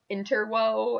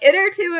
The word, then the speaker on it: Intertwo: ignis I was reading it is like in turbo and I was like wait why is this funny I feel so bad then I'm like it or two it rhymes with interview and it's the second